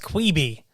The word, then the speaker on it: Quibi: But the big one is Quibi, as it's pronounced, Quibi.